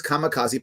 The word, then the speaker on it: kamikaze: famous or infamous japanese kamikaze which is actually should be pronounced kami kaze which actually means divine